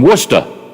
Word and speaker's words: Worcester: So I remember getting off the bus in Worcester.